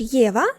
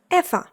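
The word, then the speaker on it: Eva: Але якщо скажеш Єва, то помилишся, тому що в німецькій мові це ім'я звучить як ефа за правилами читання в німецькій мові.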